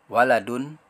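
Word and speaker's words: وَلَدٌ: Di sini ada huruf wawu berharokat fathah, huruf lam berharokat fathah, dan huruf dal berharokat domatain. Ketika disambung seperti ini, perhatikan huruf wawunya ya. Kemudian dibacanya adalah waladun, waladun, waladun, waladun.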